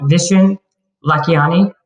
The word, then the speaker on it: Vishen Lakhiani: i say it wrong vishen lakiani you said is that right yeah thank god all right